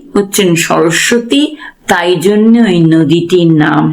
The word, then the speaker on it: সরস্বতী: এই বানানটা হচ্ছে দন্তস বয়শন্যর দন্তস বয় ত দীর্ঘ এটা মনে রাখবে ত দীর্ঘ সরস্বতী এইযে সরসতি এই যে দন্ত সয় বয় দেখ সরস্বতী একটু আমি উচ্চারণটা জোরে করছি এই জায়গাটা এখানটা হচ্ছে সয়